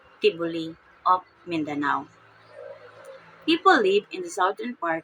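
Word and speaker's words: T'boli: partner for marriage the next is the tioli pronounced tioli of Mindanao people live in the southern part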